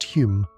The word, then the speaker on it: Home: That's Hume, but pronounced Hume because Victorians love being confusing.